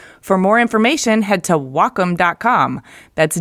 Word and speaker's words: Wacom: no well calm no it's Wacom pronounced wah like the Japanese word for harmony and come for computer the Wacom Cintiq 16